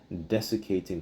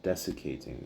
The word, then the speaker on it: desiccating: the southeast and test desecating crop lands and raising fears of disastrous wildlife season. Let me get that word des how do you say that? Desiccating.